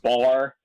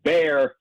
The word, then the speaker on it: Wilkes-Barre: But, a lot of people call it bar, and but it's pronounced bear, and then there's a little at the end.